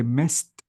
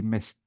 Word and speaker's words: missed: So if I want to say missed, notice I replace the D with T, missed, and I deleted the A.